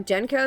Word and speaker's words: Genko: Oh, Genko is the right way to pronounce it, so you don't have to spell it out every time.